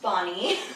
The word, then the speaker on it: Bohne: So people just follow me u bh ne ah weird name pronounced Bonnie.